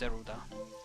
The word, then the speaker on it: Zelda: In Japanese, it's Zeruda.